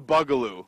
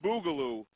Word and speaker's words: Boogaloo: Now, Joel, I hear that you're going to teach us the Bugaloo. Yes, it's pronounced Boogaloo, but...